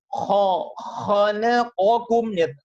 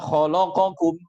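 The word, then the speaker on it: خَلَقَكُمْ: Harus dibedakan mana yang tipis, mana yang tebal. Kalau tipis, tebal, itu bisa kita kuasai dengan benar, dengan kehati-hatian yang utuh dan penuh. Maka kita bisa membacanya khalaqakum ya ayyuhan nasu a'budu rabbakumul ladzi khalaqakum. Semuanya tampak dengan jelas. Khalaqakum. Bukan malah khalaqakum.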